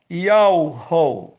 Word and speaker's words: Yahweh: Vital no YouTube e no Facebook, mostrando que a pronúncia do nome daquele que fez os céus, a terra e a fonte das águas é Yahweh.